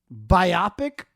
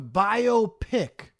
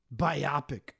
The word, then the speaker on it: biopic: down like I'm sorry people that say biopic instead of biopic you're not this isn't something that's myopic it's a biographical picture biopic what is this are